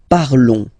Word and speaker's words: parlons: Okay, nous parlons. Okay, remember final s is not pronounced. Okay, and then this on together, they will give you the sound on.